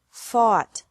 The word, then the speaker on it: fought: Fight, fought, fought. Seek, sought, sought. Teach, taught, taught. Think, thought, thought. Remember that the G is silent in these verbs.